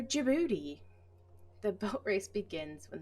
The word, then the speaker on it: Djibouti: means checklist of lockheed d is for djibouti the boat race begins